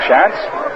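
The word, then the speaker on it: Schanz: ago the difference between Shan of Boston and shant of Philadelphia shans at Boston spells his name s c ha NZ and it's pronounced as though the were a w in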